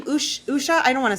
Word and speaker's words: Usha: don't what her name is US H so I believe it's Usha Usha or Usha Usha or Usha Vance